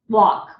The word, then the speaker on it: walk: And then, of course, these words have to be written like this: all, off, talk, walk. We don't pronounce the L, it's just the awk, okay?